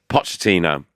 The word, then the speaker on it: Pochettino: Pochettino, who managed him at Spurs. I put him next to Ronaldinho, Maradona, and Okocha. One of the most unbelievable talents in the history of football. All right, Pochettino, chill out.